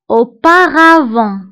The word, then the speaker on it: auparavant: auparavant auparavant كتعني سابقا auparavant auparavant فانتبهوا بالنسبه لاوباغافون كنكتبوها بالت في اخر الكلمه ولكن لا ننطقها auparavant سابقا الادفيرب الموالي